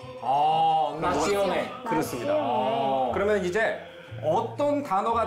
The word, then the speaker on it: nazione: 이 피온 발음만 시오네로 바꿔주면 되거든요. 시오네. 예. 나시오네.